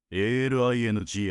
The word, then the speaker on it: Althing: L'Althing (prononcé « al in gi ») d'Islande est considéré comme le plus ancien parlement du monde, établi en 930 après J.-C.